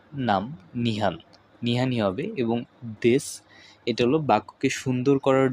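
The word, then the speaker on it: です: নিহান ওয়াতাশি ওয়া নিহান দেসু যদিও আমাদের উচ্চারণ দেসু হচ্ছে তবে আমাদের করতে হবে দেস ওয়াতাশি ওয়া নিহান দেস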